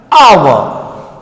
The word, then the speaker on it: hour: But here our. What? Our. H is silent here and it doesn't give any sound.